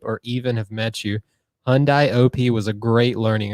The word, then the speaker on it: Hyundai: mean he also butchered hyundai it rhymes with sunday by the way hyundai